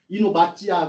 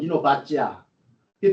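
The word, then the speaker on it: אינובציה: 그 히브리 사람 유대인들은 발음을 뭐라고 하는지 아세요? 이노바찌야 그래요. 이노바찌야.이 발음이 좀 웃겨요.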